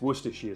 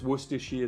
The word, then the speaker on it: Worcestershire: Worcestershire sauce, it's not hard to pronounce, it's Worcestershire sauce. It's Worcestershire sauce.